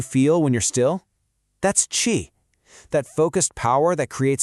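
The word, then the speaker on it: qi: You pronounce itq chi.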